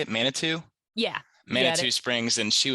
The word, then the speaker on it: Manitou: and mana what how do you say it manitou yeah manitou springs and she was up on